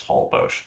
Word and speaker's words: Holbox: It is pronounced Holbox.